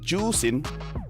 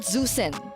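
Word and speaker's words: Zhuxin: pronounce zusin no no it's pronounced as juin juin so it's not zusen I can speak mandrin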